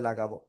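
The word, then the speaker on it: ل: তো দেখেন এই যে লাম অক্ষরটা আমরা কোন জায়গাতে উচ্চারণ করব? জিব্বার আগার কিনারা উপরে মাড়ির দাতের আমরা গোড়ার সাথে লাগাবো। লাগে উচ্চারণ করব।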